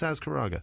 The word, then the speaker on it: Azcaraga: Joe Jones, Chris Azcaraga, or Azcaraga, right? It's Azcaraga. That's definitely it.